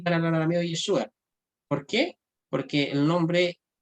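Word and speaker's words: ישוע: Se pronuncia así en arameo, pero o sea, en hebreo, perdón, y en arameo se pronuncia Yeshua.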